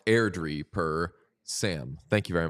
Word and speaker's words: Airdrie: That Bantam team is pronounced Airdrie per Sam.